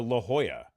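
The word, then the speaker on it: La Jolla: Um, and I drove to La Hoya, right?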